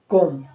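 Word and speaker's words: comb: यूज किया जाए जैसे सबसे पहला एग्जांपल यहां पर सीओ एम बी कोम यानी कंगा इस एग्जांपल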